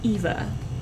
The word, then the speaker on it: Iva: But it's Ivareth, and then she goes by Iva, which is she goes by Eva. But it's spelled with an I.